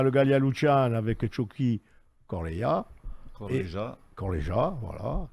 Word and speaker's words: Corlija: Donc, on a le Gallia Lucian avec Chucky Corleja. Corleja, voilà. Corleja, exactement. Pourtant, je m'étais entraîné avant. C'est pas tous les jours que tu le prononces.